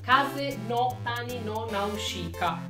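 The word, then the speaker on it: 風の谷のナウシカ: È una locandina di Nausicaa della Valle del Vento, sempre di Miyazaki, che in giapponese si legge Kase no Tani. Kase no Tani no Nausicaa.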